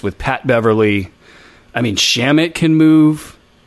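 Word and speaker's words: Shamet: I mean, Shamit can move. Is it pronounced Shamit or is it? I think it's Shamit.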